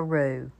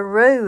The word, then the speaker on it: roux: Roux is spelled R-O-U-X if you want to look that up.